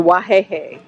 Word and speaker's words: Wahehe: Okay, so the wahehe. Wahihi. Wahehe. Wahehe. How you read is how to pronounce it.